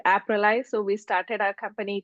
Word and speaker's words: AppRely: So it's AppRely, R-E-L-Y. You said it right, Doug.